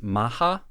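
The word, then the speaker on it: Mach: MMA fighter Sakurai hayato whose nickname in Japanese is Maha but when it gets romanized it's spelled m a like mock like speed which is where the nickname originally comes from so this practice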